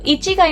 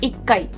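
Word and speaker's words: 一階: तो इची काई ना बोल के ही होता है इक्काई, इक्काई फर्स्ट फ्लोर।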